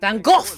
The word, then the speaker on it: Van Gogh: famous painter is Vincent van Gogh Rembrandt oh okay I thought he was gonna Van Gogh right that's how you say it in the Dutch way these soccer players these